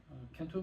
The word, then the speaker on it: kento: So if you ever looked at traditional Japanese prints, they use something called kento marks. So kento, it rhymes with bento, that's how I remember it.